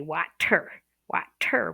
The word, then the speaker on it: water: They read it and they want to say water, water with a T. But when you're actually speaking to someone, you pronounce it like a D.